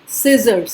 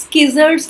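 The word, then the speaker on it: scissors: सिजर्स, स्किजर्स नहीं बोलेंगे, कैंची, सिजर्स।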